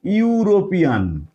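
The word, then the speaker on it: European: তাদের সম্মিলিত উচ্চারণটাও যদি ইউ হয় দেখো এটার উচ্চারণটা কি হচ্ছে আমরা বলি ইউরোপিয়ান ইউরোপিয়ান তাহলে এখানেতে ই ইউ এই দুটো লেটারের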